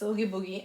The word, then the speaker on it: Oogie Boogie: I can't pronounce the name. Oogie Boogie, Oogie Boogie. Yes, it's Oogie Boogie.